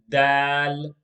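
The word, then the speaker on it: دال: we have the letter dal dal the letter dal is pronounced the same way the letter d is pronounced in english d d for daddy in in arabic the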